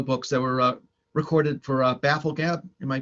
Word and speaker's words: Bafflegab: I mean, I know the first, what was it, 3 or 4 were audio books that were recorded for Bafflegab. Am I pronouncing that right?